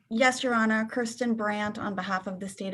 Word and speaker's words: Brandt: Did I pronounce that correctly? Yes, Your Honor. Kirsten Brandt on behalf of the state of Ohio.